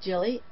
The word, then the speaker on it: Jilly: you're right though Jil I think it's Jill I think it's for Jillian probably